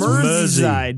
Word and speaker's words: Merseyside: It's pronounced Merseyside. Mersey. Did I get it? As in ferry across the Mersey.